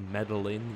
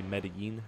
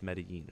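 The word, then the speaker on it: Medellín: right way to say you don't say medalin you say medin right not medalin there's two L's and it's Spanish so it's medin right um anyway uh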